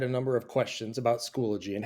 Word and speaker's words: Schoology: A lot of people, for some reason, I think our eyes and our brains trick us into thinking that there's more syllables there than there really is. It's Schoology.